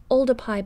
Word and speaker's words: Oldupai: started working there so really oldify gorge should be called ulda pi gorge with a p we record very precisely